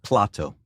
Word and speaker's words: Plato: said in the podcast how do you say Plato please say it Plato oh you it is in fact Plato in Latin and that